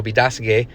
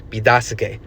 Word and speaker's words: Biidaasige: So, Be-da-sig-e became Petoskey.